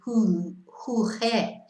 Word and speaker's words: jugué: E, it would be jugué. You know, you've got to put the U in to keep the pronunciation as a G sound.